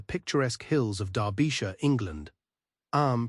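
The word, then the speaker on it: Eyam: Arm, pronounced like M, is a peaceful community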